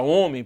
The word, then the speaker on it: homem: Resultado, até a existência do H na palavra homem, por exemplo, é uma contradição do acordo.